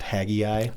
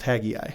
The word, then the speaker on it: Haggai: about the temple Zachariah question why is it pronounced haggai I don't know h-a-g-g-a-i yeah you know what I've never but I've always heard it pronounced Tagai yeah I've never actually looked up the original